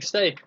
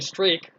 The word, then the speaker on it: streak: Yeah, you're still saying steak, Kevin. I know you mean streak, but you're saying steak. The R is silent, or invisible.